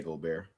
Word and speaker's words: Gobert: Shout out to Rudy Gobert, man. Gobert. I can't stand over here and them say that. Huh? Gobert. I be hearing them say Rudy Gobert. Gobert. I'm like, please say Gobert.